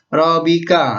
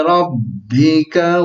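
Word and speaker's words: رَبِّكَ: bukan pas Tapi kalau bahasa Bi Hamdi Robby yang corak tapi yang benar WhatsApp Bi Hamdi Robby Nah bukan robbika salah Tapi bacanya fasabbih bihamdi rabbika wastaghfirhu innahu Kana tawwaba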